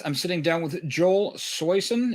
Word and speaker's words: Soisson: I'm sitting down with Joel Soisson. Is that how you say it? It's Soisson, but I'll answer anything.